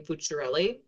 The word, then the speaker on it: Fuciarelli: Um, but I was called names like and because of my last name, Futurelli. Now I have to say whoever came up with that was kind of clever because it ran it rhymes, right?